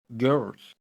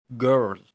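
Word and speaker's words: girl: جنجر اللي هو الجنزبيل بس خلي بالك حرف ال جي اي مش دايما بيتنطق جا لو جه وراه اي ليه في بعض الكلمات اللي بتبقى شاذه شويه عن القاعده زي مثلا جيرل جيرل اللي هي بنت او جف جف اللي هي هديه هتقول لي طب انا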